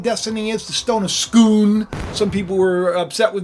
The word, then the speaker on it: Scone: the stone of scone I just think Stone and scone sounds better than stone is schoon I think Stone sounds a little like silly I know that that's the way you're supposed to pronounce it I'm sorry but Jacob